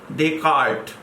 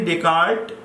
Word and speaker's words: Descartes: epistemology promoted by rene descartes renee descartes in pronunciation but it is written as descartes therefore do not worry